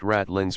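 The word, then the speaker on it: ratline: means of which Sailors May Mount the masts pronounced ratland Reef a low Ridge of rock usually just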